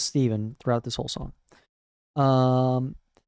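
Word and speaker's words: Stephen: that now on to Stefan which is actually pronounced Steven in the song yes she says Steven throughout this whole song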